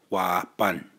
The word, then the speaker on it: wāpan: partners right up above whoppin phonetically would say why bun it is day late